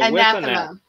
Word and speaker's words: anathema: So Anathema.